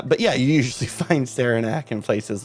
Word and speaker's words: Saranac: make sure that the root beer is actually pronounced Saranac because I mean it could have been pronounced